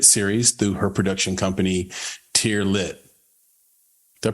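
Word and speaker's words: Teare Lit: into a limited series through her production company tiar lit did I pronounce that right tier lit you did beautiful beautiful nil is also the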